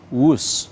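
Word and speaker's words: Whoosh: waktu hemat operasi optimal sistem hebat yang dibaca wus dengan ejaan wus nah Tahukah Anda Apa arti kata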